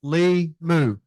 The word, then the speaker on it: Limu: It's Lee Jeans and Moo Cow, Limu.